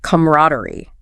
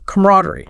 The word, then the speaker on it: camaraderie: And pronunciation wise, the video notes both are okay, but camaraderie, stress on the rad, is probably more common, especially in American English.